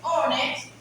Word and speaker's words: honest: Vemos que honest empieza con H, pero como la H no se pronuncia, sino honest, pero igualito, tenemos que colocar el A, porque estamos tomando la palabra empieza con consonante.